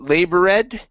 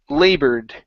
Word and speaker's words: labored: my notes um okay labored right here instead of labor red okay the e the e and the e d is silent okay so this is labored labor okay very nice